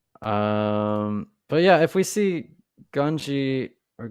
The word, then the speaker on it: Gungi: So they all say it differently. yeah, some say like Gunji, some say Gungi. Like it's, I guess you can just use any of those and it's accurate.